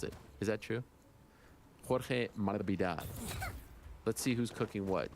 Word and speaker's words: Masvidal: Sounds like Jorge is asking announcers to drop the S in his name. Do you think he's trying to get closer to how you pronounce it? Is that true? Jorge Masvidal.